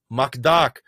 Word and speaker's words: McDuck: Anyways, McDonald's is often referred to as Macduck, which is the way that Scrooge McDuck's name is pronounced in Russian.